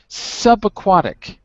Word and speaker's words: subaquatic: Subaquatic. Subaquatic. Yes, sub. Sub was the key word, because you think you said soup. Sub.